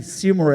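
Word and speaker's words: Seymour: Seor é a pronúncia correta.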